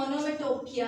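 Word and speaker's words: onomatopoeia: इसके स्पेलिंग ये हैं, बोलने में ओनोमेटोपिया है, ओनोमेटोपिया।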